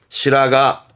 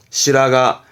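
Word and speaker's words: 白髪: 시라가, 시라가. 이때도 시라 발음이고, 가미의 가에서 시라가.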